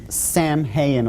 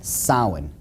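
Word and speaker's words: Samhain: call it sin now when you look at the name it looks as if it's saying Sam hayan or something like that no no no no this is properly pronounced in the ancient GIC as Sin Sin according to Ault tradition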